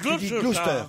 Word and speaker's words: Gloucester: Le Gloucester, c'est comme la place Leicester, on ne prononce pas le. On est Gloucester.